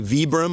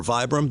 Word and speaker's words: Vibram: way is the outsole this is a Vibram or Vibram depending on how you say it Mega grip tread and